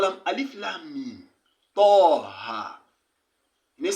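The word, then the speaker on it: طه: Toha. You need say toh. Or tih. Or to. Now pronounce it, don't pronounce that.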